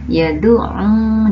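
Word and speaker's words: يَدُعُّ: Allazi pada kata yadu'u juga ya. Jadi kalian membacanya dengan ditekan sedikit ya, seperti yang tadi telah Ibu contohkan.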